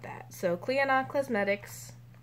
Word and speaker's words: Clionadh: I had an idea of how I was going to attempt to pronounce it. It was not that. So Clionadh Cosmetics, Clionadh Cosmetics, and I'm taking it out.